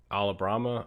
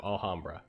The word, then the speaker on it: Alhambra: to Alabama's gonna build the ala hum bruh Allah Brahma I don't really know how to pronounce that I think I realized after I